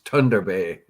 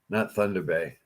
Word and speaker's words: Thunder Bay: Mike Cushman says it's Thunder Bay, not Thunder Bay.